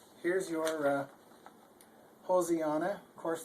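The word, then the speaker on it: Hosianna: Here's your Hosiana. Of course, the S is pronounced like a Z, and A always says a sound, so it's an O says O, so it's Hosiana.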